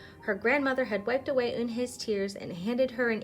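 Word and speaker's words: Unhei: It's spelled U-N-H-E-I. It's pronounced Eun-hae. "Oh, it's you-hae," the boy said. "Like you, hey.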